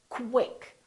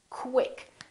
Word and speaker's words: quick: want you to say when we have words that are spelled with q u they're pronounced as k w so there's a little